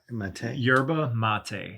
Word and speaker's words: yerba mate: Yerba Mate.